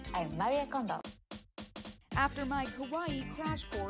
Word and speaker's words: kawaii: So kawaii is pronounced a lot like Hawaii.